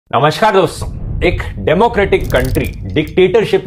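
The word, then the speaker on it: coup: या फिर opposing ideology की पॉलिटिकल पार्टी भी हो सकती है। इस दूसरे केस को कू कहा जाता है। प्रोनाउंस कू किया जाता है, लिखा ये ऐसे जाता है।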